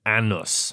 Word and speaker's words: Anus: Anus, but but has been pronounced Annus.